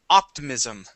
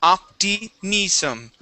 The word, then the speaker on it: optimism: So, um, uh, this word here, Diego, the word is optimism. Optimism. Try that. Okay. Optimis. Optim. Mhm. Very good. Okay. Uh, with that word, focus on the short I sounds. You're saying opism.